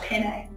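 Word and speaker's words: panne: of feel to it it's called penne p-a-n-n-e i think i'm saying it correctly i say it like pasta penne okay i'm just going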